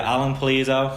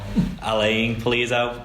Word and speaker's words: Alan Pulido: Yeah, Alan Pulido. I think he pronounces it more Alain Pulido, but you know, it is how it is.